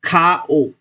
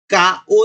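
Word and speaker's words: かお: तो फेस को हम बोलते हैं खा ओ। का ओ नहीं बोलते हम, क्योंकि ये का लेटर है जो जो है वो वर्ड, ये खाओ वर्ड के स्टार्टिंग में आया है, इसलिए इसको प्रोनाउंस करेंगे हम खा ओ, खा ओ।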